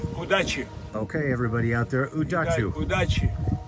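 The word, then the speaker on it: удачи: good luck in Russian uh good luck uh udachi udachi okay everybody out there udachu udachi udachi okay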